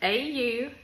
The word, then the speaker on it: Autauga: We are a county school system, which our county is Autauga, spelled really funny, A-U-T-A-U-G-A, but it's pronounced Autauga.